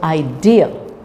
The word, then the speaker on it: idea: it's forget forget forgive idea so say this is all often pronounced wrongly so idea so the dear part is more prominent idea lament machine